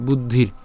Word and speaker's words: বুদ্ধির: এরপর রেফের জন্য র উচ্চারণ হবে, অর্থাৎ র হসন্ত পর্যন্ত উচ্চারণ হবে বলেছিলাম। তো বুদ্ধির উচ্চারণ হয় বুদ্ধির, হ্যাঁ। এরপর এই যে এখানের মধ্যে আমি এটা ভেঙে দিয়েছিলাম কীভাবে?